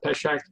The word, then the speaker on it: Pesach: Passover is also called, and Michael, you may have to help me on the pronunciation on this, is also called Pesach.